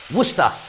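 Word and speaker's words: Worcestershire: of that but yeah just pronounce it worcester okay then we're going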